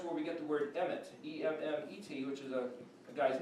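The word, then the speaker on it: אמת: It's pronounced the way, this is, remember, an A, an M, and a T, but that's where we get the word emet, E-M-M-E-T, which is a guy's name, emet.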